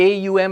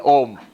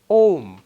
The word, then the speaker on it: Om: The rules of Sanskrit grammar say when you put A and U together, it becomes O. O. So when the comes after that, correct pronunciation is Om.